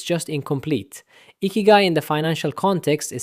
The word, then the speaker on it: ikigai: Habit five, ikigai, pronounced roughly ikigai.